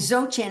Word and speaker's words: Dzogchen: You know, I meditate with that Zoten group out of LA and Zotchin is spelled DZ O G C H N.